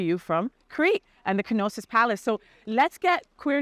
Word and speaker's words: Knossos: beautiful Greek Isles and we are in kosis yes right the kosis palace did I say that right yeah you said it right I was like hypnosis